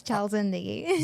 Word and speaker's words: Chal Zindagi: Is it like did I say it right? Yes, Chal Zindagie. Zin- Zindagie? Yes. There we go.